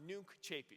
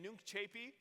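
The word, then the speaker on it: Nunc coepi: And it's spelled N-U-N-C space C-O-E-P-I. Pronounced Nunc Chapi. So say it again, Nunc Chapi.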